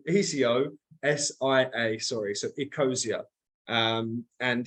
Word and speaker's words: Ecosia: person um but for everybody in the chat it's spelled Eco i o e c o s i a sorry so ecosia um and it's a search